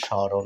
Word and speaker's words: স্মরণ: আপনাদেরকে স্বাগতম দেখুন বন্ধুরা স্মরণ এখানে কিন্তু ম ফ ফলা উচ্চারিত হচ্ছে না স ম ফলা র মুদ্রেণ এভাবে তো আছে তাই না বন্ধুরা তাহলে এখানে কি হলো সমরণ হওয়ার কথা ছিল কিন্তু তা না হয়ে হচ্ছে স্মরণ অর্থাৎ